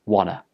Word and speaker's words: wanna: Look again, the t sound at the end of want gets dropped and it becomes wanna. Wanna.